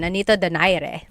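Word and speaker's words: Nonito Donaire: So, our first poll here is going to be Manny Pacquiao versus Nonito Daire or is in in the Tagalog uh pronunciation. Nonito Dire.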